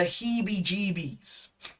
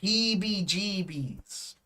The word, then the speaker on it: heebie-jeebies: one this is a good one give the heebie-jeebies all right the pronunciation is quite interesting he be geebies the heebie-jeebies it's quite a fun one to uh to